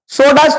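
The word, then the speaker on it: षोडश: पंच और 10 15 सोडस थोड़ा मुश्किल है इसको अंडरलाइन करेंगे और अलग से इसको नोट करेंगे कि 16 को हम सोडस बोलते हैं इसी प्रकार सप्त दश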